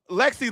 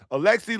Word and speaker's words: Alexi: Because Lexi Lawless, buddy, listen, Lexi Lawless sounds like a loser. Not like Alexi. I want to pronounce his name properly. Alexi Lawless, former men's national team player, sounds like